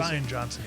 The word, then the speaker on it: Rian Johnson: You know, I love Smartless, and they actually had, is it Rian Johnson? How you say it? Rian Johnson, yeah.